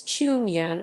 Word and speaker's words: Cheung Yan: roots in hailing jang also known as chunyan according to the cantonese pronunciation of her name is a chinese entrepreneur